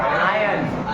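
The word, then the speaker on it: iron: इसको आयरन नहीं पढ़ना है, आर साइलेंट है, आयरन।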